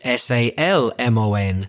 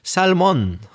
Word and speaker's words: salmon: It's s a l m o n. So you'll hear Spanish speakers and other speakers from other countries say salmon, but the L shouldn't be pronounced.